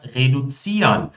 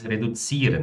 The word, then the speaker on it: reduzieren: Ou seja, já tem uma pronúncia mais reduzieren, né? Ou seja, com esse R puxado.